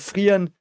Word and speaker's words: Fern: I did that on sorry F okay so fa is another big character um fa is of course uh The Apprentice of haa and like the grandchild of he so to speak and The Apprentice of fan and uh fan means um distance um fan